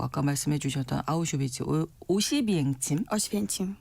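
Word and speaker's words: Oświęcim: 어시펜침. 네. 여기를 이제 독일식으로 발음한 게 아우슈비츠예요. 맞습니다.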